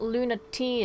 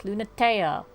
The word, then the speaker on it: Lunatea: It's not Luna T, it's Lunatea.